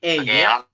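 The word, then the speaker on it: ㅐ: Ini yang atas itu AE, tulisannya AE, dibacanya tetap E, teman-teman.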